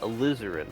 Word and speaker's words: Alizarin: Alizarin, like a Alizarin.